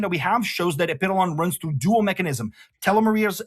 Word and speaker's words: Epitalon: And by the way, it's pronounced Epidolon, not Epitalon, okay?